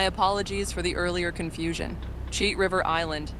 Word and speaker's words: Cheat River Island: Cheat River Island, not Cheetah.